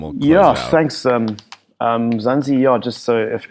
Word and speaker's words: Mzansi: And also, by the way, the concept of Mzansi, am I pronouncing it correctly?